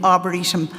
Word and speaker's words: Arboretum: So we rebranded, and that's the new Arboretum brand. Arboretum and E, there's a little dot under the E, and people say to me, what does that mean? So that people can pronounce it Arboretum.